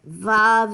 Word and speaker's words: Vav: Vav is correct, and I would spell it V-A-V.